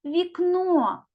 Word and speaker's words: вікно: наголошений наступний малюнок слово вікно ділимо це слово на склади вікно скільки складів у цьому слові два склади давайте одразу визначимо наголос у слові гукаємо слово вікно куди падає наголос на другий склад А тепер робимо звукову